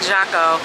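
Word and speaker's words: Jacó: Y'all, it's Jaco. It's spelled with a J. I keep saying Jaco, because half the group says Jaco, half the group says Jaco. It is Jaco.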